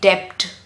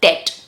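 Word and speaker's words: debt: It's not supposed to be depth. No, no burr sound, no depth. It is supposed to be det. B is silent.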